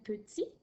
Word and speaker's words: petit: Ensuite, on a au masculin petit, qui s'écrit P-E-T-I-T. Notre T à la fin de petit, il est muet, bien sûr, puisqu'il n'y a pas d'autres lettres pour le faire parler.